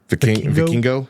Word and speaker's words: Vikingo: Vikingo.